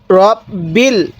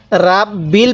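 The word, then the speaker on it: رَبِّ: লিল্লাহি তাহলে আলহামদু লিল্লাহি রব্বিল রব্বিল অনেকেই আমরা রাব্বিল পড়ি র জবর রা পড়ি না র জবর র পড়বো তাহলে রব্বিল রব্বিল আলামিন কিভাবে পড়বো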